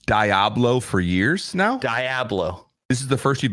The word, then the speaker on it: Diablo: as a family, and they got me into Diablo and all of the Blizzard games. I'm sorry, Blizzard. Real quick. Two things. One, love that you played StarCraft together. Two, what is Diablo?